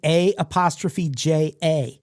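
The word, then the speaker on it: Aja: Her dad was a huge Steely Dan fan, and her name, A''J''A. That is the name of a Steely Dan album. It's pronounced A'ja.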